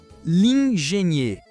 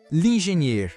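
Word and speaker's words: l'ingénieur: Lingenier. Lingenier, o engenheiro.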